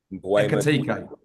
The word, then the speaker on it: Ekitike: Say that again, Sam. What's his name? Ekitike. Okay, I thought you added a couple more syllables in there. No, I made sure I checked it before I come on, actually, because it's easy to miss the K.